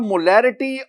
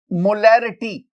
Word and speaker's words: molarity: My dear student, अगर आप मोलैरिटी और मोलैलिटी दोनों के स्पेलिंग्स देखें ना तो देखिए MOLARITY मोलैरिटी, और इधर आप देखेंगे MOLALITY मोलैलिटी। एक में R है मोलैरिटी, एक में L है मोलैलिटी, बाकी लेटर्स दोनों में सेम है।